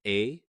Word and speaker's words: æ: Ash, written æ, was derived from Latin and pronounced like the vowel in modern cat.